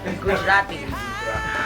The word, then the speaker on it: Gujarati: Gujarati.